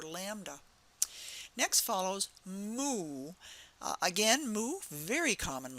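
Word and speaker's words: mu: to write that cursive letter Lambda next follows moo uh again moo very common letter and um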